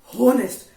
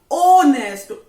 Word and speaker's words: honest: So many students, they sometime what they do, they pronounce it honest. Arey bhai, no bhai, no. Don't say honest. It is honest.